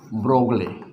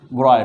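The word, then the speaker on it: de Broglie: है Louis Victor डी ब्रोगली। लेकिन ब्रोगली है ना, इसको पढ़ते हैं ब्रॉय पढ़ते हैं।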